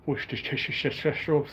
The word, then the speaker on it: Worcestershire: Worcestershire is how you pronounce it.